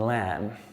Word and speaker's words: lamb: And we've got words with a silent B. So they're words that things like bomb, or doubt, or debt, and lamb.